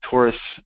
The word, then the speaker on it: Taurus: installing uh Taurus which is uh uh it's pronounced Taurus but it's spelled dzt um uh via the